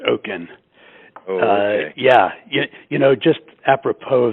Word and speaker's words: Okin: Okin, am I pronouncing your name right? Yes, it's Okin.